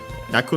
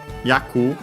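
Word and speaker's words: 役: Yaku on its own should be accented. The syllable it is.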